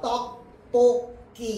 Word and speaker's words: 떡볶이: 번입니까 1번이 되겠다 그렇죠 얘 어떻게 반음 됩니까 떡볶기 이렇게 발음된다 그렇죠 떡볶이 자 그다음에